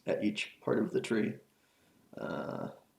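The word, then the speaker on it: trie: each part of the tree uh not really sure what the difference is between a try maybe this is pronounced try not tree I forget it's spelled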